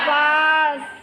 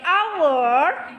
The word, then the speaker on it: hour: ada yanget kan Oke karena walaupun huruf depan yang H Namu cara membacanya a Oke Betul sekali jadi our memang awalan huruf depannya adalah konsonan H namun membacanya vokal Our ya Jadi pakai n bukan a pakai an hour Oke berikutnya last Group